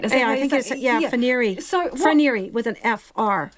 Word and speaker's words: Froneri: So this Froneri, am I saying it right? Froneri. So Froneri with an F-R. Froneri.